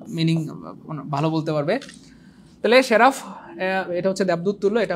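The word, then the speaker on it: seraph: দেখেন এই যে শেরাফ, এই ওয়ার্ডটার উচ্চারণ হবে শেরাফ।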